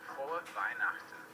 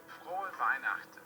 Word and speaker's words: Frohe Weihnachten: Frohe Weihnachten is how you say Merry Christmas in German. If you wanted to make this easier for yourself as an American, you could say Frohe Weihnachten, but that would not be correct. That would be with an ugly American accent. So if you really want to get it down, learn how to say the German R's, which are Frohe Weihnachten, Frohe Weihnachten.